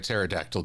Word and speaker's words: pterodactyl: Why can't you hear a pterodactyl going to the bathroom? The P is silent.